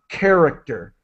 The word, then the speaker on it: character: then the CH in character is like a k and so uh character it's it's the k sound character all right great and